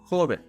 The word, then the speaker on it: joven: The word joven. It ends with an N, so you need to stress the syllable jo, joven.